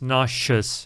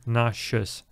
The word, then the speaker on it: nauseous: И произносится немножко по-другому, да? Если там nausea, там у нас z, да? Nausea. Nausea. То здесь nauseous. Nauseous. Sh, sh, nauseous.